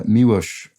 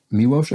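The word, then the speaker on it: Miloš: of the cuckoo's nest this is uh miuosh foreman i believe that's how it's pronounced miwosh i believe also directed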